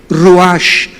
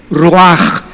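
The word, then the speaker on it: רוח: apunta la palabra espíritu la palabra hebrea ruach tal como suena ruach ruash se pronuncia inmediatamente qué notamos aquí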